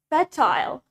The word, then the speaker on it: fertile: Next, we have the word fertile.